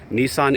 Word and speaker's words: Nissan: And by the way, Nissan in Japanese is pronounced Nissan.